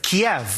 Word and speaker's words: Kiev: Some have wondered why we're pronouncing Ukraine's capital as Kyiv instead of Kiev. That's because Kyiv is how Ukrainians say it. Kiev is how Russians say it.